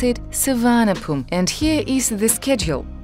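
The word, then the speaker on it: Suvarnabhumi: travel all the way to the airport in souvenir boomy Bangkok or as the thigh people pronounce it Savannah boom and here is the schedule it departures every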